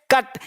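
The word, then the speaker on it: cut: जैसे पढ़ के देखिए, देखिए यहां लगा सी यू टी, देखिए यहाँ पे सी यू टी क्या है, कट।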